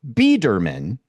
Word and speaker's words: Biederman: Biederman is the Yes. right way to say it.